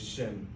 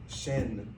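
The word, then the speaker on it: שם: For example, the word name is shim. If we mispronounce it, saying shen with a with a noon at the end, it means like tooth we're teeth.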